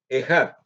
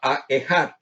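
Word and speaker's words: אחד: Al pronunciar la palabra Ejad, uno, en el primer versículo, la letra Aleph debe ser pronunciada rápidamente, pero hay que detenerse un poco al terminar las letras Esh y Dalet.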